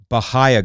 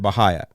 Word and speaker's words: bahia: something about bahaya grass now they all pronounce it Baha but you guys know pronounce it bah grass and I always will because I'm from penel County and we pronounced it bahaya and that makes sense be a i a bahaya there is no bahaya in there it's bahaya okay if you want bahaya in there it's got to be ha y y'all